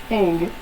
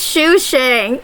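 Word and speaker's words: Sushang: Her name is Hang. Her name is Hang. She literally wants to die. No, her name is Shu Shang.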